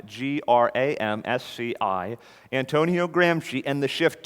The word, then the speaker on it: Gramsci: Antonio Gramsci, pronounced Gramsci, he's Italian, Gramsci, Antonio Gramsci, and the shift to cultural Marxism.